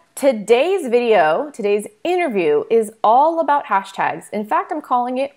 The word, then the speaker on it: Hshtags: So hashtags is, first off, it's spelled hashtags without the first A. So that's HSHTAGS. It is a platform for monitoring and tracking your hashtags across multiple social platforms.